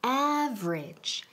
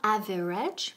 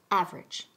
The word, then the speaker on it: average: Pronunciation, average. Average. Se quedan en dos sílabas. No average, pero average.